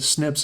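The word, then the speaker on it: SNP: what are called snips that snips is the the common way of pronouncing a single nucleotide polymorphism that's just a fancy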